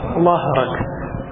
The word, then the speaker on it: ظهرك: അൻഖബ അവിടെ എങ്ങനെ അൻക പോലെ അൻഖബ ലഹ്റക, അൻഖബ ലഹ്റക. രണ്ടും വേറെ വേറെയാണ്. അൻഖബയുടെ ബാദാണ്, ലഹറിൻ്റെതോ ലാ.